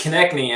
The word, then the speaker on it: Konecni: Yeah, it's Konecni, actually. Stephen Konecni. I would have never gotten that, but can you introduce yourself and tell us how to pronounce it? Yeah, it's like connecting the knee, Stephen Konecni.